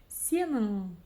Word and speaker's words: сенің: И да, ударение, конечно, по идее должно стоять на последнем слоге, но так как буква «у», то есть палочка с точкой, произносится очень коротко, то ударение перескакивает на слог вперед. Вот такая вот магия.